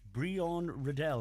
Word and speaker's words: Bréon Rydell: Say hello and we welcome our first set of guests to the studio, and it's Bréon Rydell.